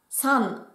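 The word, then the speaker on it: 三: San.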